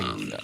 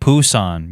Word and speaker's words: Busan: Oh my Busan. Very straightforward. See, somebody commented, no, it's more like Poo-san. You pronounce it like Bosan. This dude ain't even Korean saying it. It's Busan, man.